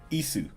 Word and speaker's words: Ys: how you pronounce it just just ISU it's how it's said in Japanese according to Wikipedia East I don't I